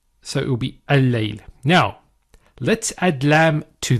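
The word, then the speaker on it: الليل: So the first lam does not get pronounced. So it will be al-layl.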